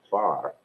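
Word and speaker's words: Pharr: a little town called far that's spelled p-h-a-r-r like phone you know if you don't say pon both say well that's how we pronounce our city here far e-h-a-r-r and that's 60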